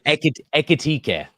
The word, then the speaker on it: Ekitike: Ekitike.